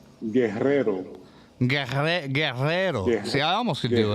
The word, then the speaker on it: Guerrero: You want me to pronounce it for you? Sure, hit it up. Let's hear it. It's Guerrero. Guerrero.